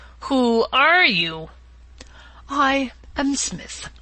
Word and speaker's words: Psmith: are you i am smith said the old etonian reverently as there is a preliminary p before the name this however is silent i like the tomb compare such words as tarmagen psalm and this is these gentlemen